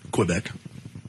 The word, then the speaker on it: Quebec: Quebec. Thought they pronounced it Quebec. What? Dan, it's it's Quebec if you're doing it with the French twist on it.